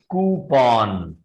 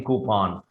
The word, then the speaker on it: coupon: The correct pronunciation for this word is कूपन. This is नॉट कूपन. पन. There is नो पन इन कूपन. आप जब भी इसको प्रोनाउंस करेंगे तो वो कूपन करके करेंगे.